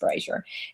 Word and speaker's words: Brasher: My name is Brasher, but last name is Brasher, but it's pronounced Brasher.